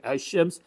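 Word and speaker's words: الشمس: Lamb is assimilated into the next consonant. Ashe, look how we are writing ashems. The lamb here is no longer pronounced rather it is assimilated into with the ish and and is converted into shed.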